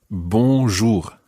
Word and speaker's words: bonjour: to our nasal sounds the first syllable is very nasal it's means good remember when i say the word you repeat after me and then anna will repeat after you then means good and the part what we need to try and make sure is that that second syllable sounds very much like what's the vowel sound that you make there that's it in scotland